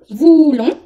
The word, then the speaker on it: voulons: Y la pronunciación es nous voulons peindre, con sonido nasal, peindre la maison.